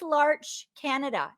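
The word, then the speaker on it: L'Arche Canada: the large canada community what is larch canada am i saying it right uh yes you are and lars canada is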